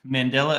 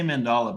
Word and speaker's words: Mandela: just talking about man mandella effects I always say mandala but that's not the right way to say it I guess and the